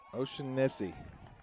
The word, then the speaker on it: O'Shaughnessy: O'Shaughnessy. The G is silent in the middle.